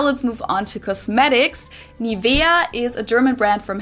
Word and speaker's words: Nivea: English native speakers usually say Nivea. Nivea. In German, we say Nivea.